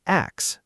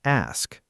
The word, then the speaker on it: ask: Some learners accidentally swap the S and K, so it comes out as axe instead of ask.